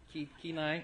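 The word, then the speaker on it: Kenai: Pennsylvania and Alaska did I say it right keenai okay keenai right she's corrected me already twice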